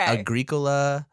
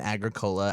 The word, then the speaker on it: Agricola: you pronounce it no so there is actually a dispute on this okay Agricola and Agricola i think it's an either either situation according to the people I've talked to if they're either if